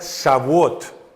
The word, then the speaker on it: Shavuot: fiesta de Pentecostés Ah o como en hebreo se pronuncia sabot es la la palabra